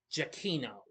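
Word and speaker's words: Giacchino: Okay, I mispronounced his name before. Jakino, that's how you pronounce it.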